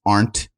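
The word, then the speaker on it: Ahrndt: is and my last name is really hard to pronounce but it's not it's aren't a-h-r-n-d-t i am a german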